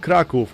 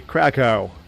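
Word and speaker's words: Kraków: We're moving to Poland, the beautiful city of Kraov, or as Americans say, Krakow.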